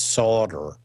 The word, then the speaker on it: solder: use regular solder anymore or as they like to say in foreign countries solved or they won't say it's solder like us it's sauder because that's actually the way it's spelled but actually the way